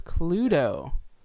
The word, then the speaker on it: Cluedo: it is known as Cluedo. Just literally just how it's spelled, just with a D-O on the end.